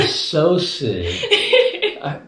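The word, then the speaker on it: psocid: P-S-O-C-I-D-S. Yes, it's a socid.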